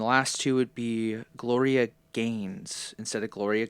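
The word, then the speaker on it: Gins: And then the last two would be Gloria Gaines instead of Gloria Gyn. It's spelled G I N S but it's pronounced Gaines and then Brienne.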